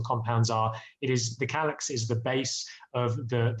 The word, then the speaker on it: Calyx: as you know we we call it calyx uh i think it's good to touch on the name because i really like the name not just because it rhymes with my name um but but it's